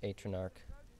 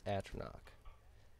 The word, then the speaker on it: Atronach: I always thought it was Atronarch. Huh? I thought it was Atronarch for years. Then I found out it's Atronach.